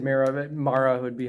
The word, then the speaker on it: Mara: how do you how did it say it mara mayor he said mirror of it mara would be how it's how it's pronounced i didn't know her name but she